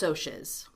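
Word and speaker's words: Socs: So say for the for the movie and for the musical, it's pronounced soches.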